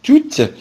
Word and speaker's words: toutes: Toutes avec ES, c'est pareil, on dit toutes.